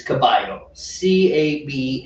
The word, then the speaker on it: caballo: In Argentina, it's pronounced j. Oh. So, the Spanish word for horse is caballo, Caballo, caballo, right?